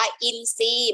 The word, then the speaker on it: อินทรีย์: สิบ สี่ ค่ะ อินทรีย์ ทร ออก เสียง เป็น ต่อ คำ ควบ กล้ำ ไม่ แท้ นะ คะ อ่าน ว่า อินทรีย์ หมาย ถึง ชื่อ นก